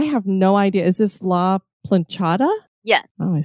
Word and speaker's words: La Planchada: Is this La Planchada?